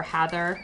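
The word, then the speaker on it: Hathor: s of mining is hator or hather as I think a lot of people tend to say her name um and you know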